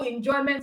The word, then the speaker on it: enjoyment: Even though enjoyment is three syllable words, but you know that the stress is not on meant.